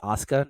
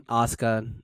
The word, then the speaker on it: Asuka: hell they're called, they didn't know how to pronounce Asuka, if I'm not mistaken.